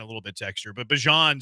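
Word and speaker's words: Bijan: Y Why are you saying Bejan's name like Bjon? Because Bjon Robinson told everybody that his name was Bjon and not Bejon.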